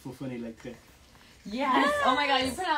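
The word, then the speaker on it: Foufounes Électriques: Busted out, how would you pronounce it? No. Like, Fufun Electric. You got it!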